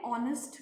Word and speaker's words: honest: I have given an example, an honest man. Here, the word honest has started with H, but yet I am using an.